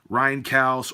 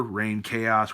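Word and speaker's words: Reinkaos: Finally finished off my dissection collection of studio albums anyway with Dissection's final album, Rhine Chaos or Rain Chaos, whichever way you want to pronounce it.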